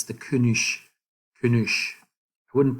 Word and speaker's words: König: So notice the G at the end. G. So it should be pronounced König. König. Right? So apparently in certain regions down here, it's called a König. So it's actually more like a K sound.